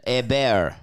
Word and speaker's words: Hebert: Hebert, give it the French pronunciation. Hebert.